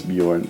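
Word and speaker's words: Björn: know my name is Bjorn really the real pronunciation of it is beorn but my mom thought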